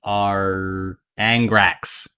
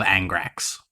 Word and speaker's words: Angrax: Cool Guy, and I am playing Arbosh, son of our Angrax. Got the wrong syllables there. Arbosh, son of Angrax.